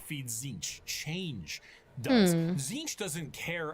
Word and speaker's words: Tzeentch: Is it just pronounced Tzeentch but spelled T-Z Tzeentch?